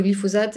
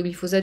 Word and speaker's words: glyphosate: glyphosate justement euh alors à l'époque je prononçais glyphosate parce que je venais de d'Amérique latine et là-bas c'est comme ça qu'on le prononce je sais qu'il y a plein de gens qui sont moqués de moi dans les commentaires de ma façon de prononcer glyphosate donc maintenant je m'efforce de faire comme s'il y avait un Z même si ça n'est pas naturel pour moi donc le glyphosate